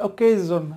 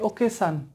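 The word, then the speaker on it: occasion: আমরা সবাই এনজয় করলাম অনুষ্ঠানের ইংরেজি আমরা সঠিক উচ্চারণ হচ্ছে ওকেজন আমরা বলি ওকেশন ওকেশন বলি এটা হবে ওকেজন এভাবে আরও অনেক ভুল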